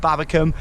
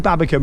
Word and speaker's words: Babbacombe: the vlog up at Babbacombe, and yeah, I think I've learned how to say it now. Definitely Babbacombe, not Babbacombe.